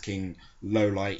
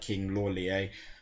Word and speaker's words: King Lawliet: That's about the first entry of my King Lowlight series. Yes, it's pronounced King Lowlight, even though it looks like King Lawliet.